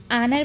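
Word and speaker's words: honour: आनर में आप देख रहे हैं ए के बाद अगर ओ होता है या फिर कोई भी मात्रा होती है तो एच साइलेंट होता है।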